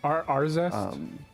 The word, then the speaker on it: Arzest: It's being developed by, oh gosh, I always butcher the pronunciation of the studio's name, but Arzest?